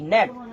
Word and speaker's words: gnat: তাহলে লুতিবুকরে ইংলিশের মধ্যে হবা নেট, কি বলি হবা নেট, GNAT নেট, GNAT নেট। তাহলে নেট মানে লে লুতিবুক। তাহলে জীবানি কি জি আছে জি বা সাইলেন্ট কেলা বলে হলে যখন ইংলিশে ওয়ার্ড যদি